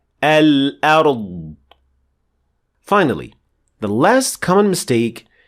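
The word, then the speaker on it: الأرض: Al-ard. Now that last bit of the sound is the qalqala or the releasing of air, which is not supposed to happen. And it should sound like this. Al-ard. Al-ard.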